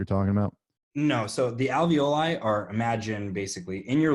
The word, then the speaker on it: alveoli: talking about basically the barriers how do you pronounce this alveoli yeah the alveoli so vo lie is that is bad where